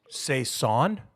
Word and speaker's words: saison: is called a Saison say that again say a son I'm looking it up now because I've always said because Saison I think it I think you said it right the first time because I see that and I think Saigon and so I think oh it's a Saison oh okay but it translates to season so yes say son oh that sounds like season when you say it like that yeah I mean that's